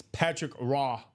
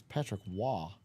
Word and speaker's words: Patrick Roy: It's Patrick Raw. Raw. Yeah. I always say I always call him Patrick Roy. Patrick Wah. Yeah. See, it's not Raw, isn't it? It's Patrick Wah.